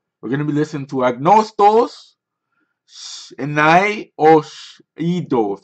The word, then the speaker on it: Άγνωστος: listening to Greek we're gonna be listen to ignore stalls and I owe a dose that's how you pronounce it that means unknown X its X